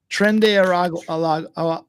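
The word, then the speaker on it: Tren de Aragua: Trende Aragua. But you can roll the R. You can roll the R if you'd like.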